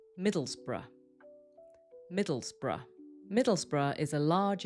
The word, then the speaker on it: Middlesbrough: But if we see this at the end of a place name, we know it needs to sound weak, like bruh or bruh.